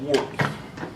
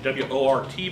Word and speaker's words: wort: And must is the pre-fermented wine, or in the case of a beer, that would be called wort, which is W-O-R-T, but it's pronounced wort.